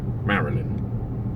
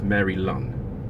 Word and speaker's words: Maryland: at the end okay Maryland Maryland yeah Maryland it's not Maryland no it's Mary Lun no Mary Linn no Marilyn it's not a series of women no Maryland Maryland but the cookies